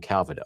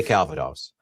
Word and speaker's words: Calvados: I'm inclined to say Calvados, but I was watching Marty's stream the other night with Nancy Fraley, and she was saying Calvados. So I assume Nancy has the proper pronunciation. So we'll say Calvados.